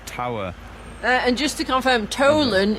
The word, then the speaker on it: Tholen: and just to confirm Tolen is spelled t h o l e n so it's like tholen we you said Tolen